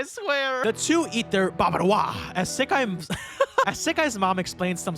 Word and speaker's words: Bavarois: name I at first didn't know how to pronounce. Want some Bavarois?